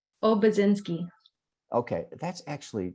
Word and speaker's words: Obiedzinski: By the way, please pronounce your name. Obiedzinski.